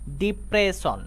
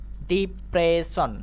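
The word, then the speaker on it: depression: খেয়াল করো এটা আমরা উচ্চারণ করি ডিপ্রেশন ডিপ্রেশন তো এই ওয়ার্ডের মধ্যে আবারও আমরা এস এস পেয়েছি তারপরে কিন্তু আই এবং ও আছে এইজন্য আবারো আমরা এস এস কে এবার তালবস এর মত উচ্চারণ করব নেক্সট ওয়ার্ড দেখো এটা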